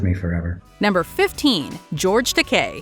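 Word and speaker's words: Takei: will stay with me forever number 15 George teay it's true you pronounce it like aulan amok amok time exactly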